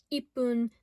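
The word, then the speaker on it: 一分: However, when paired with different kanji for numbers, it's pronounced ippun, nifun, sanpun for 1 minute, 2 minute, 3 minute. And if you notice, it changes depending on what number it is, and as any person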